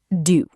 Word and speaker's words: du: It is not pronounced exactly like the English word do. Repeat after me. Du pain, du fromage, du café.